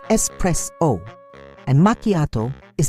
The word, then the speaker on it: espresso: Similarly, espresso is not espresso. There's no X in espresso. It's espresso.